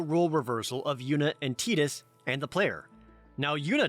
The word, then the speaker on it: Tidus: now yunna doesn't know i pronounce it titus that is the canonical pronunciation now titus while titus